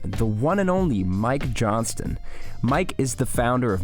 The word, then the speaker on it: Johnston: tuning in and enjoy all right Mike Johnston welcome into the podcast dude thanks for pronouncing the T many people leave the tea out and they just say Mike Johnson uh so I so that already already I'm